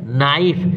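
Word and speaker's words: knife: है बोलते हैं केनाई बोलते हैं नाइफ माने चाकू और लिखते हैं के नाइफ तो क्या है वहां के क्या है साइलेंट है वैसे यहां पर वाव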